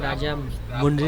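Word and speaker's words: राजमुंदरी: अब राजा महेंद्र वर्मन के बारे में आपको हम राजा मुंद्री रेलवे स्टेशन आने पर बताते हैं। और फाइनली हम राजा मुंद्री रेलवे स्टेशन पर इंटर कर रहे हैं।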